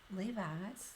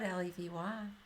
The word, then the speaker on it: Levy: I don't believe it's Levi. Yeah. It's spelled Levy.